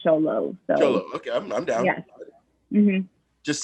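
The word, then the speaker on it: Xolo: and he does go he prefers it pronounced show low so okay i'm down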